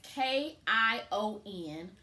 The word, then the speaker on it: Kion: so google actually um spells his name as k-i-o-n kion is how we're gonna pronounce it and it means warrior and i